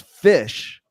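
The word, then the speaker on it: Phish: going to surface cuz fish is headlining Bourbon and Beyond and okay for you Canadians we spell that pH kind of like fat with ph it's fish with ph yeah like [ __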